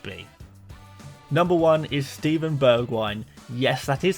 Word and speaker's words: Bergwijn: assets he could be number one is Steven Berg wine yes that is how you pronounce his name think the wine bit in